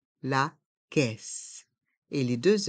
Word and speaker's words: caisse: le tapis roulant la caisse la caisse les voyelles a et i se prononcent e la caisse et les deux s